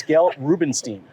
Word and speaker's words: Gail Rubenstein: I am here in Las Vegas with the one, the only, the oh-so-famous Miss Gail Rubenstein.